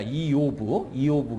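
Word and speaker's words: איוב: 욥기 강의는 욥이라는 이름 히브리어로 보면 이게 이요브입니다. 이요브. 그래서 욥 이거예요. 발음이. 근데 영어로 보면은 여러분들 보시는 것처럼 job 그래서 잡 그 직장이나 일의 잡으로 하는데 요거는 그 라틴어 불가타 성경이라는 게 있죠. 라틴어 불가타 성경에서 job를 쓴 거예요. 왜냐하면 라틴어 계열은 j가 묵음이 됩니다. 그래서 job이 아니고 라틴어로 읽으면 욥이에요.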